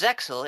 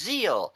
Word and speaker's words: Zexal: It's like, oh no, it's not pronounced Zexal, it's pronounced Zeal, and that is just silly.